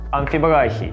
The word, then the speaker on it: амфибрахий: Дактиль с ударением на первый слог, амфибрахий с ударением на второй слог и анапис с ударением на третий слог.